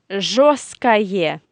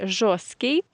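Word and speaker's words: жёсткий: Or the opposite is жесткое мясо. Жесткое мясо. And be careful here, because if you talk about this word жесткий, we write t in the middle, but it is silent.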